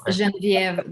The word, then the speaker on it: Genevieve: You can say Genevieve, but it's Genevieve, the right way to pronounce it.